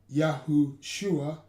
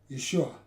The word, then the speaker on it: Yahushua: So the pronunciation Yahushua is quite correct, while in some manuscripts it was spelt as Yeshua, missing the wa, while it can also be spelled with two was as follows.